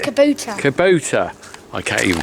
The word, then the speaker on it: Kubota: three two one boom kabutar what is it not Kabuto what is it Kubota I can't even pronounce